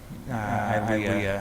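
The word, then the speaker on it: Ilya: Our daughter, Ilea, her name is spelled I-L-Y-A, for I love you always.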